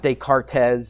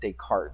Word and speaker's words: Descartes: But it's not Descartes, it's just Descartes. The S is silent. So his name was Rene Descartes.